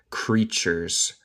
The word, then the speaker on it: creatures: I wish the creatures, el T suena con CH, creatures, wouldn't be so easily offended.